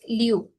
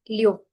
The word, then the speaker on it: Liu: La verdad, por ejemplo, de cómo se pronuncia mi apellido no es Liu, es Liu, Liu. Y de hecho el mío es en segundo tono, aquí el 6 es en cuarto.